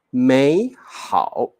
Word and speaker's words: 美好: 答对了，我们要念 2 声的，你不要念得很辛苦，老师好难念哦，美好太难念了，我们就念美好就可以了哦，美好。